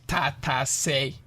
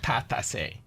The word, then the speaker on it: Tatse: bell pepper, which is Tatse. Tatse. So I removed the A, like I said earlier, making it inclusive. Okay. I removed the A and made it Tatse. Tatse instead of Tatse. Instead of Tatase.